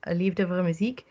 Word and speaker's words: Liefde voor Muziek: In 2018, you participated in a Belgian program, Liefde voor Muziek. Nice pronounced.